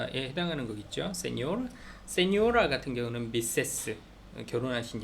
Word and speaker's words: señor: 그래서 세뇨르, 세뇨라, 세뇨리타, 도냐 할 때 n에 앞에 위에 물결이 있어요. 그래서 세뇨르, 세뇨라, 세뇨리타, 도냐 뭐 이런 식으로 발음을 한다.